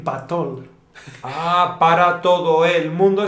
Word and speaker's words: patol: Pero, claro, si ya empezamos a unirlas, podemos decir patol.